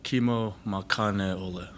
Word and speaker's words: Kimo Makane'ole: Pronounce it for us. So it's Kimo Makane'ole. Makane'ole.